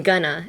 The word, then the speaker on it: gonna: going to write I'm gonna in an essay. You only use it when you're speaking. So how would you pronounce I'm gonna? I'm gonna. Gonna. Emphasis on the ga.